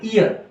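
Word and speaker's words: heir: इयर अब इसका मतलब ये नहीं आप इसको बोले हियर नहीं है इयर ईयर। इसमें एच जो है हमारा साइलेंट है तो ई पकड़ेगा।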